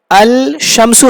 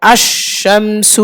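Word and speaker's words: الشمس: আল শামসু হবে না, আল হবে না। তখন কি হবে? আশ। কিরে, সরাসরি আ এটা কাকে ধরবে? শিনকে ধরবে। আশ শামসু, শিনের উপর তাসদীদ দিয়ে। তাহলে লামটা কোথায় গেল? লামটা শিনের পেটে চলে গেছে। হ্যাঁ, লামটা শিনের মধ্যে ইদগাম হয়ে গেছে। আশ শামসু। কারণ কি? কারণ আল শামসু পড়া কঠিন, মুখে মুশকিল।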